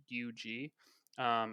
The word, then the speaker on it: zhoug: I think it's pronounced Zhoug. It's Zhug, and it's Yeah, a sauce from Yemen.